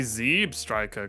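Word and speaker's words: Zebstrika: poker clothes I say Zeb Striker cuz I'm Ze Striker crazy Zeb like zebra not Zeb Ash doesn't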